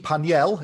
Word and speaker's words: Panel: So yes, my name is Panel, or Paniel, if I give it its original French pronunciation.